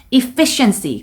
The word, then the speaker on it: efficiency: 이 단어는 에로 시작하시는 게 아니고 로 발음을 시작해 주셔야 돼요. efficiency. 강세는 fee 부분에 들어가면 되겠습니다.